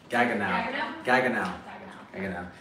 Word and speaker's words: Gaggenau: Hey, ladies, how do you pronounce this brand? Gaggenau.